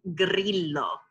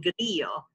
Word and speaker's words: Grillo: L, which would be Grillo. That is not how we say it in Italian. Right. You pronounce those two L's. All the consonants, all the vowels.